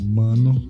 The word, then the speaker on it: Maono: eu optei por comprar da maono falando a pronúncia correta mano que é uma empresa